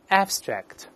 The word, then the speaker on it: abstract: 抽象的用这个词就好了，大声读一遍 abstract abstract，注意 the accent is on the first syllable，重音在第一音节。